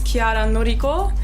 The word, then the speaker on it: Chiara Noriko: It's Chiara Noriko. Actually, it's Chiara Noriko. The way you pronounce it right, but yeah.